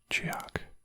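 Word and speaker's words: Tsioque: Sioque. I'm gonna call it Sioque. T-S-I-O-Q-U-E. T-S-I-O-Q. Sioque. Sioque. Pronounce Chiak. Chiak. So T-S-I is G.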